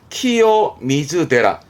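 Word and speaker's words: 清水寺: 일본어는 요게 키요미즈데라입니다. 그러니까 위에 있던 키요라까 키요의 키요 발음에서 키요미즈데라. 그러니까 시미즈나 세스이가 아니라 이런 고유명사의 경우는 그렇구나 보시면 되겠죠.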